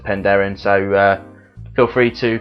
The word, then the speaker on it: Penderyn: Some say that it's pronounced Penderyn, so I've always said Penderyn, so feel free to correct me in the comments below.